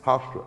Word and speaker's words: Hofstra: Hofstra.